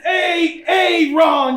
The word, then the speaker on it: A A Ron: are what up sir I said it's a Aon you say it any other way you heard the name wrong hold it down for